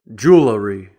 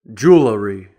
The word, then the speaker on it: jewelry: Personally, I reduce it to 2 syllables when I say it normally.